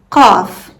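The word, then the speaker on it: قاف: This one might remind you of the K sound in English, but it's much deeper in your throat. It's made by pressing the back of your tongue against the soft part of the roof of your mouth.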